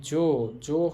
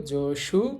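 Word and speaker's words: 上手: হয়, বাট এটা ব্যতিক্রম, এখানে সু হবে না, এখানে হবে জু। হওয়ার কথা ছিল জসু, কিন্তু বলতে হবে বা উচ্চারণ হবে জজু।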